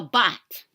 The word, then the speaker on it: baht: It's pronounced bat. I don't know if it's a long A or shorty. Down here, it's a shorty. So it's a bot. Not a bat, but a bot.